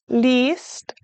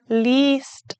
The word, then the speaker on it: liest: Liest ein Buch. Now remember, I-E is pronounced E. Liest ein Buch.